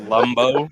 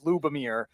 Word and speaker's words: Lubomir: He said Lumbo. He's not even Lumbo. Lubomir. He put an M in between the U and B.